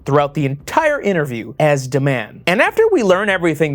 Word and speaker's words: D-Man: Pronounced Deman, as Anna says it.